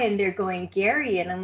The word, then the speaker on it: Gerry: a guy from Indiana named Gary but it's spelled Jerry so it's kind of